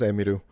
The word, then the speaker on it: Emiru: I pronounced it right then, it was Emiru.